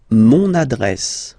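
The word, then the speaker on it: mon adresse: use adjective possessive masculine monad monad my address monad monad okay you can hear now this little link so you've got to pronounce this n monad monad okay and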